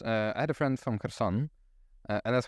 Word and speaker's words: Kherson: Because I guess the Kherson, the spelling right would be with a K somehow, but I would never pronounce it as Kherson. Yeah, it is. I think it's just to make sure that folks don't completely ignore the H at the beginning. So that's why K was added in there.